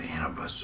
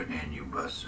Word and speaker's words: Anubis: is for a ship called the Anubis, or Anubis, if you want to spell it A-N-U-B-I-S.